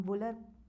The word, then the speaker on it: Wular: Locally इसको हम वुलर pronounce करते हैं, इसको लोकली लोग वुलर भी प्रोनाउंस करते हैं, वुलर एंड और वुलर।